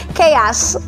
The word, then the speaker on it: chaos: psych matches wasabo psychic chaos chaos and second syllable according to the dictionary is more on the ah sound chaos chaos architect architect